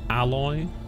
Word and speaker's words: Aloy: news on the horizon gets pronounced alloy aloy's Original Adventure Horizon